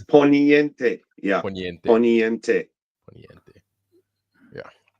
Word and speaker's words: Poniente: I kept mispronouncing it and calling it potente, and that means power. And You see, that's what happened. No, it's Poniente.